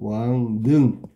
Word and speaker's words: 왕릉: 자, 여기는 단어에 해당되는 게 1번 같은 경우에는 비음화, 자음동화에 해당되는 건 왕릉이야, 왕릉. 발음하면 왕능. 그러니까 바뀐 게 뭐야, 그러면? 리을이 니은으로 바뀐 거야.